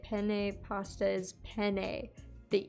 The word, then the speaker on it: penne: the E at the end is pronounced like the E in hay. And the emphasis is placed on the first syllable. Okay, so it's penne.